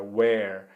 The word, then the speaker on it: where: Essa é a pronúncia, então were, vejam que é diferente daquela nossa pergunta, lembram-se da nossa WH question, where que significa onde e que é escrito com um H depois do W, não é isso? E tem uma pronúncia mais aberta, olha, where. E aqui a gente vai ter uma pronúncia bem fechada, were, ok?